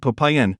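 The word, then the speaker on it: Popayán: The province of Popayan, emphasis on the last syllable, is famous for becoming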